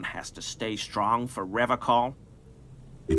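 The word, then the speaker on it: Revachol: to stay strong for revocal he pronounces rivercon with a hard K unlike other people I like to pronounce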